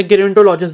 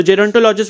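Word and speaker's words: gerontologist: तो ऐसे इस प्रैक्टिशनर को हम क्या बोलते हैं, जेरोंटोलॉजिस्ट बोलते हैं, या गेरोंटोलॉजिस्ट भी बोल सकते हो आप, ठीक है। तो जेरोंटोलॉजिस्ट will be the right pronunciation.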